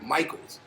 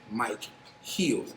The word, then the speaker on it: Micheals: rip it's actually rip Mike heels a lot of people don't know that it's not rip Michaels it's actually rip Mike heels a lot of people